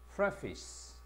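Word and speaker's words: preface: 근데 이게 서론, 서문, 머릿말 이런 단어가 되어서 프레이를 붙이면 페이스가 아니고 발음이 어떻게 되나? 피스로 발음이 난다. 따라서 이게 어떻게 돼? 프피스 요렇게 해서 발음을 사용을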